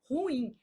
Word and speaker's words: ruim: Por exemplo, quando você fala assim: "Ah, ela é muito ruim".